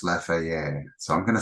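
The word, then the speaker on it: Laferrière: Okay, so let's have a look at some photos of Fort I think it's pronounced Laferriere.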